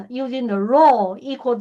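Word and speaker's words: rho: This is we call uh pronunciation row like R O U RO. It's from the Greek.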